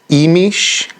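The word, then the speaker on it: Imix: with them and this first day is pronounced imish emish iix um and it's got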